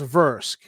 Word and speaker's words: Vrusk: it into my setting that humans particularly humans from triad pronounce rusk as versk and so that's going